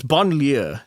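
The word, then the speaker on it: banlieue: I Oh, Bon. That's not how you pronounce it. God damn it. Okay. Before before I did this, I looked up how you pronounce it and I've now forgotten. It's Bonier. That That's how you Well, okay.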